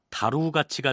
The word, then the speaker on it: 다루가치: 뒤 군사를 이끌고 돌아왔다 여기에서 달로 화은 몽골 말을 중국인들이 한자로 표기한 것을 우리식으로 발음한 것이고 몽골식 발음으로는 다루 가치가 되는데 원나라가 고려의 내정을 간섭하기